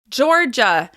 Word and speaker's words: Georgia: As you can hear, Florida is also stressed on the first syllable. Florida. Florida. Florida. Now we have Georgia. Georgia. Georgia.